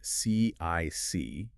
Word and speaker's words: CIC: First off, you'll see the acronym CIC, but it's usually pronounced CIC or colloquially just uh kick kick, right?